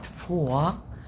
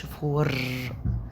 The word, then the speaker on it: vor: يبقى كلمة فوا وفوا ما بنقولش فور، لا فوا منطقش الار.